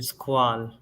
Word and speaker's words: Squale: It's like the TGV, Dan Henry and Squall, or sorry, Squall. That's how you correctly pronounce it.